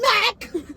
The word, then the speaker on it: Mac: I was like, Daniel, first of all, he's like, Max. I was like, it is Mac.